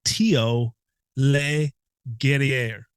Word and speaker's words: Theo Le Guerrier: It's Theo Le Guerrier. Le It's Guerrier. the Lee Le and the Guerrier. Guerrier are separate.